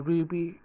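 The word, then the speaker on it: RWBY: So I've been thinking about whether if I want to do Ruby videos. So Ruby is spelled R-W-B-Y.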